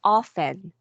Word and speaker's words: often: you see this word this is silent t Okay meaning you should not pronounce the T this is often often yeah this one